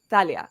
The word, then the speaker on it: Thalia: what I do so I'm sorry to everyone who wants it to be Thalia sounds too close to my name so it's Thalia okay Talia there we